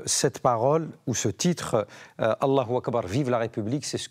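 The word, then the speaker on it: Allahu Akbar: Alors Mathieu, la bonne prononciation c'est avec le Roulé. Allah Akbar, vive la République.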